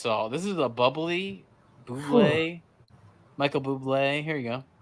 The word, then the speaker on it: Bublé: mean bubbly? No, I mean Bublé. You're Michael Bublé. That's a bubbly. She's right, Michael Bublé. It's pronounced Bublé.